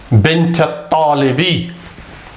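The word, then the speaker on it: بنت الطالب: No, the alif is written but it's not pronounced. Okay. Bint at-talibi.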